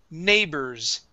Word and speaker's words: neighbors: Now, after this, we have neighbors. Okay. The GH here is silent. Nay. Neighbors. Neighbors. Okay. Instead of saying bore, this is burrs.